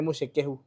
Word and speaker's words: Muchekehu: lakini najua ikiandikwa hivi you might think it's a Ugandan name, but I believe hiyo jina ni Muchekehu. That's the correct pronunciation.